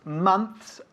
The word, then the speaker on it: months: Months, meses, ¿no? Y no months, ¿ok? Months, hay que bajar la mandíbula ahí.